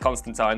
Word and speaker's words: Constantine: that he was in, Constantine, and it is pronounced Constantine, don't tell me it's not, I'm from Liverpool,